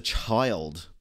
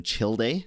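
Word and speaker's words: Childe: now we're on to child thank you for letting me know how to pronounce child's name as well instead of me calling him chill day i appreciate it guys um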